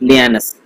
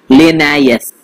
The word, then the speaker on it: Linnaeus: इसका अगर scientific name देखें तो वो है पैंथेरा टिग्रिस लियानस, तो वो मैं लिख दे रहा हूं आपके सामने, पैंथेरा टिग्रिस लियानस, LINNAEUS, ठीक है।